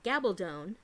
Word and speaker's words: Gabaldon: Diana Gabaldon books and it's gabbled own the Outlander series gabbled own rhymes with stone remember that gabbled own